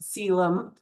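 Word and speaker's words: coelom: We call that a cylum. So spelled colum, but it's pronounced cylum.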